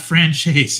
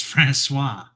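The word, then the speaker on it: François: It's not franchise, it's Francois.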